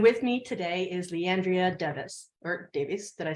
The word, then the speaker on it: Devis: Hire Club's Director of Coaching, and with me today is Leandria Devis, or Davies. Did I say it right? I It's mispronounced. Devis.